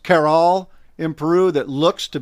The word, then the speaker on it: Caral: Have you been to, I think it's pronounced Caral in Peru, that looks to be like an Anasazi site?